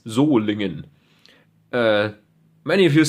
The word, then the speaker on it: Solingen: Germany for those of you wondering how to pronounce well it's zingan uh many of you say Solen engine that's kind of I don't know that's kind of cheeky I like that Sol engine um pattern number is 99 which is the